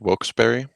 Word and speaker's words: Wilkes-Barre: into the railroaders knockout also to pronounce wilkes berry i uh having i i seen it countless times if i'm looking at the word i cannot physically say wilkes berry but i know that is the correct pronunciation of the town i just can't look